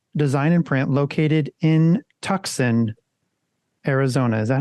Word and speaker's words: Tucson: Dylan, today we are chatting with Patrick Foley from Cream Design and Print, located in Tucson, Arizona. Is that how you pronounce that? It's Tucson. Tucson, yeah.